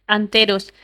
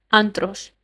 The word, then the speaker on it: Anteros: Ron, por alguna razón, había tenido cierta dificultad con el nombre Anteros y lo pronunciaba mal, Antros, lo que solo la irritaba aún más.